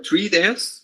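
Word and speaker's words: TREATAS: There, so treatise, remember, treatise, that's how it is pronounced, and you pass in an expression and then columns.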